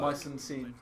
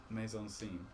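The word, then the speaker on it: mise en scène: Mice and scene. You heard that phrase? Huh? Mice and scene. Oh Mise yeah, en scene. maison scene. It's Yeah. spelled like mice though.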